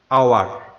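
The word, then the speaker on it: hour: তারপরে হচ্ছে আওয়ার, এখানেও এইচ এর কোনো উচ্চারণ হয় নাই, মানে হ উচ্চারণ হয় নাই, তাই আমরা এখানে লিখব এন আওয়ার, এ আওয়ার নয়, এন আওয়ার।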